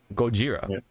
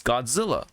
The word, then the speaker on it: Gojira: the record button um Godzilla right like Gojira goira is how it's originally pronounced pronounced in Japan in Japan but here in the states or in the west everywhere else it's Godzilla right yeah yeah it's it's